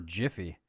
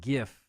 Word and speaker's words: Jif: is just one f j i f which if i'm not mistaken i think is actually how you pronounce it's not gif it's jif like the moving image that